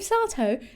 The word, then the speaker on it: Sato: sato sato last name sato sato rhymes with hi yeah i simply thought